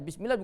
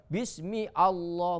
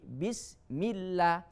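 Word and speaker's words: بسم الله: Alhamdulillah, bismillah, ya, bismillah bukan bismi Allah, bukan, tapi bismillah, dibuang hamzanya, tidak dilafalkan alifnya atau hamzanya.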